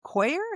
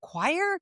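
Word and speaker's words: coir: C o i r. Yeah. Koer. Is that how you say it? Yeah. Um, it's coconut. I always see it. Yeah, it's coconut. I always see it and I'm like, how do you say that? Choir. No, koer. No. Yeah, it's koer, I think.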